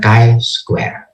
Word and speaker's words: chi-square: chi-square Nia logie dalam di dalam bahasa Inggris perang mengatakan Kai Square ibadah Kai kita saja